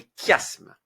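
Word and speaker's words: chiasme: 3è la trè figure de style s'appelle le kiasme. Ça s'écrit ch mais ça se prononce. Le cashme.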